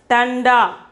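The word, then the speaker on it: ठंडा: See, the bindu is here. So, we have to pronounce it as tanda.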